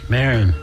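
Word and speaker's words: Maron: Marin. Marin Triumph the Insult Comic Dog.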